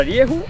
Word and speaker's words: Rieju: cosa molto importante allora rievo si pronuncia così come ho detto io Rieu è una casa spagnola quindi la pronuncia effettivamente non è delle più semplici mi parlavi anche di